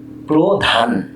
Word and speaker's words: প্রধান: যেমন প্রধান, প্রধান, এই নটি অকারান্ত ধ্বনি। তো এই প্র শব্দের শুরুতে এই পয় রফলা হয়ে গেল প্রো।